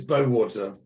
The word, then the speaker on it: Bowater: Bowder, who's the founder and editor of, help me out here. Crypto AM. Crypto and it's Bowater.